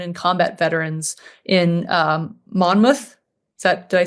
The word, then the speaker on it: Monmouth: for deserving children and combat veterans in um Monmouth. Is that did I say it? Did I pronounce it correct?